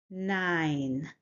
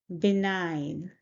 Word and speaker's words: benign: The pronunciation is benign. We stress the second syllable, so we stress this sound, nine, benign. Say it with me, benign.